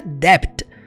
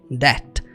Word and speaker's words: debt: Essa palavra você não pronuncia debt. Não, você fala debt. Debt. Você vai ignorar o B.